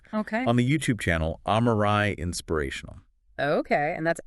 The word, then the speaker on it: Amarae: on the YouTube channel Amarae Inspirational. Okay, and that's Amarae, spelled A-M-A-R-A-E. That's right. And pronounced Amarae.